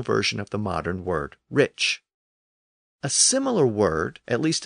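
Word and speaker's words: rīc: k sound but remember in Old English it was pronounced Rich so it had experienced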